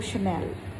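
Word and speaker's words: Chanel: Realise किया कि ये शनेल का है। तो फिर मुझे अजीब सा लगा, किसी को भी अजीब सा लगेगा जो वेल वर्स्ड हैं। तो इसीलिए दोस्तों, the pronunciation is शनेल, शनल, Louis Vuitton, शनल।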